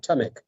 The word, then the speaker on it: Tamek: Tamek. Tamek.